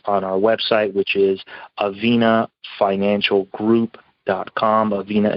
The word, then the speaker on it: Avina: easily find us on our website which is aveena financial group dot com aveena is spelled a v i n a um they